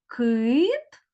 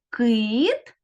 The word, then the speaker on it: кит: малюнки як вимовляються слова кит і кіт Зверніть увагу на різницю у вимові перших звуків у цих словах кит звук к а слово кіт звук кі у слові кит перший звук к твердий а у слові